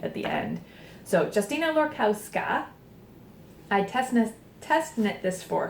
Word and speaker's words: Lorkowska: This is Saunder, and it's by Justina Lorkowska. I can never say her name. I always say Lorkowski, and I think I've